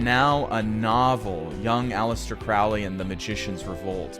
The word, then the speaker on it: Crowley: Is it Crowley or Crowley? Crowley pronounced pronounced it himself. Crowley like the bird. And he said it rhymes with holy.